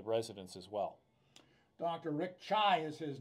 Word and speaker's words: Tsai: Rick Tsai is his name. It is spelled T S A I, but it's pronounced Tsai as in the T as in Tea Party.